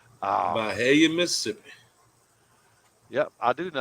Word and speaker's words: Byhalia: like it you know some people can't pronounce it you just have to say bye hell yeah oh hell yeah yeah